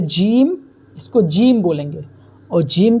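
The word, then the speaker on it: ج: ये है जीम, इसको जीम बोलेंगे और जीम की हिंदी ज होगी। इसका उच्चारण हम करेंगे जीम, लेकिन इसकी जो हिंदी है वो ज है।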